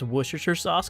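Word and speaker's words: Worcestershire sauce: I'm gonna be the first YouTuber to ever pronounce wooers sauce correctly, which is just crushed up little fish juices.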